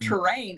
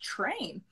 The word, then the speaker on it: train: are they saying terrain it's not terrain it's train and then i heard